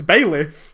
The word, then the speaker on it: bailiff: out loud several times it's bailiff i've told you like bay leaf like the like the thing bailiff i know bailiff